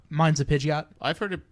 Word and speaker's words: Pidgeot: Pidgey, but it's a Pidgeot. Mine's a Pidgeot. I've heard it pronounced Pidgeot.